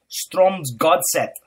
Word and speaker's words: Strømsgodset: Let's see if I can get the pronunciation of this team right. They were called Strømsgodset.